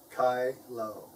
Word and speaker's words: Kyllo: kylo case and it's it's pronounced kylo kylo not kylo or kilo now a lot of you students out there not pronouncing my name right so i hope i hope you can say it now kai lo kylo and